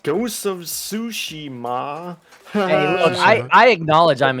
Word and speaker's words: Tsushima: Ghost of Tsunami or whatever. I don't know how to pronounce that shit. Tsushima.